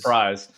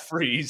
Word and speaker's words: Fries: Who about is Fries? They spell it like it almost looks like it's in the comic, and they spell it like fries, but it's Freeze, obviously.